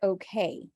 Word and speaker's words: okay: all right so uh about the word okay it's not o we're almost never gonna have just awe I mean the the or sound in American it's always awesome yeah okay okay but we stress k okay okay amazing so